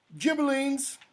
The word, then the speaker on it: Ghibellines: The Ghibellines, I'm going to pronounce the GH as a J, and the Guelphs, okay? And what happened was, just before Dante was born, the Ghibellines defeat the Guelphs, they